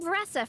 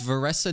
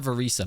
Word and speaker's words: Varesa: her name hi I'm vessa from the colle vessa okay it's vessa not verisa my bad what about in Japanese